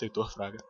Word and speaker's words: Heitor Fraga: Hello everyone, I am Heitor Fraga. By the way, that's how it's pronounced, Heitor Fraga.